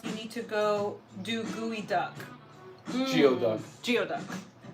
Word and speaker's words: geoduck: If you're going to make clam and green curry sauce, you need to go do gooey duck.